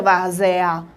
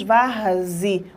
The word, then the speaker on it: várzea: Ninguém pronuncia várzea, não é? Nós pronunciamos varzi. O E tem som de I, então é o som mais fraco.